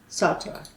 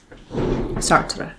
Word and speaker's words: Sartre: Sartre. Yep, I said it right. Sartre.